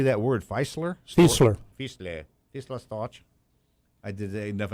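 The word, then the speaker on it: Fieseler: Fiesler.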